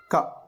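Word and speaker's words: ಕ: To pronounce the first letter, it doesn't require much breath, but the second one requires.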